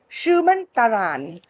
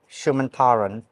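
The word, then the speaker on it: Suman Tharan: on my daybed today with my dear friend Shuman Taran. Did I pronounce it properly? Yes, that's about right. Shuman Taran.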